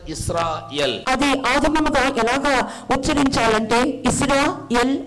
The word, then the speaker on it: Israel: Though in English they pronounce the word as Israel, ఆంగ్లములో ఇశ్రాయేలు అని చెప్పి పిలుచుచున్నప్పటికీ it is originally should be pronounced as Israel.